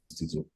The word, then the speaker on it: Tito: Okay, now Tito is my middle name. It's actually pronounced Tito. Oluwatito.